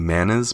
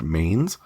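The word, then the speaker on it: manes: be covering the mains i think it's pronounced maybe manas but i believe it's pronounced mains which is a pretty gnarly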